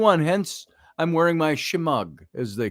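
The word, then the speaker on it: shemagh: hence I'm wearing my schmug as they call it her Shema if you want to pronounce the GH silently Shema or it's my shimog uh my my scarf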